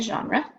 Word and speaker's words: genre: Google genre in art that's how you pronounce g n r e a genre so pause the video